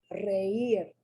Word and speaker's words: reír: ending for a verb, here the I is pronounced strong. Reír.